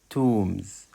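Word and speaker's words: tombs: كتري الوطن الوطن الوطن تومز تومز مقابر مقابر مقابر وكلمه تومز البي سايلنت لا تنطق ابرود ابرود خارج البلاد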